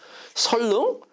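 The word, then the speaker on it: 선릉: 되는 거예요 자 그래서 선능 이걸 갖다가 왜 한국 사람이 두 개로 발음 하냐 한 사람은 한 사람은 설하고 릉을 자를 수가 없다고 생각하는 거예요 그럴 경우에는 어떻게 해요 선능 이렇게 발음해야 되는데 어떤 사람은 어떻게 생각해요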